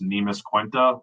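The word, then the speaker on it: Neemias Queta: if want to say his nam's pronounced nemis quenta and you know he's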